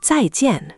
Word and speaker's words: zàijiàn: So, Zai Jian stays two distinct beats. Zai Jian. Not Zai Jian as one mush.